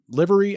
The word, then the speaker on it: livery: a term like livery livery i'm not sure why that's pronounced to be honest l-i-v-e-r-y it's like delivery without the d or commercial use i'll